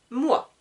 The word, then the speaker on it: moi: Donc pour le je, c'est moi. Petit rappel, OI, donc OI, en français se prononce OA.